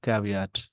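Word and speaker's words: caveat: Actual में इस word का प्रोनाउंसिएशन होता है कैविएट।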